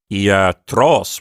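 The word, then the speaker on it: ἰατρός: And then when you say iatros with the accent on the final syllable, if you physically put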